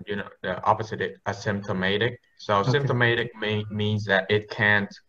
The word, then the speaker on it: asymptomatic: So you stress is on the symptoms. So it's symptomatic versus asymptomatic.